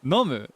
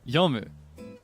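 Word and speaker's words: 読む: And it took saying it wrong enough times around people that spoke Japanese better than me to hammer it into my head that it is yomu. Nomu janakute yomu.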